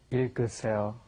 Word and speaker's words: 읽으세요: Yeah, you got a double consonant there again, right? The I sound at the beginning, then it goes to the L, il. It goes in that order, I, and then g, that last G gets moved up in front of the next vowel.